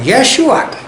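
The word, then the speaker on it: ישוע: इब्रानी लोग मतलब इज़राइल के लोग जब यहोशुआ वो बोलते हैं, प्रोनाउंस उच्चार करते, तो उनके मुंह से ऐसा निकला यशुआ।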